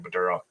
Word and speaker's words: Badura: I think it's how you pronounce his last name, Badura.